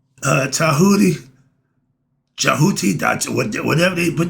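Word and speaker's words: Djehuti: Tahoodi, spelled with the D. J E T. J E H U T I Tahoodi.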